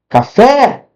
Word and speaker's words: café: Café. Café. Qual que foi mais forte?